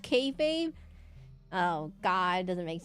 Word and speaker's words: kayfabe: But it's not Kefab. It's It's spelled Key Fabe, but it's pronounced Kayfabe.